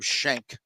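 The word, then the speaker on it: Schenk: names in golf Adam Shank that like it's it's spelled s-c-h-e-n-k but you know you gotta say shank like who that's like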